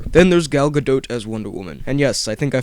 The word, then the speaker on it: Wonder Woman: Then there's Gal Gadot as Wonder Woman, and yes, I think I finally learned how to pronounce it.